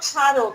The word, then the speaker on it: স্মারক: তাহলে শ্রী যোগ অক স্মারক, এই দেখো রিকারটা উঠে গিয়েছে, এই যে আর ধ্বনির সৃষ্টি হয়েছে। স্মারকের যদি আমরা ধ্বনিতাত্ত্বিক বিশ্লেষণ করি, দন্ত স ময়ের কোনো উচ্চারণ নাই, সা র ক যোগ অ।